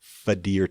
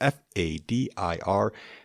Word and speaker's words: FADIR: Fadir test, Fadir. It's always nice when it sounds exactly like it's spelled.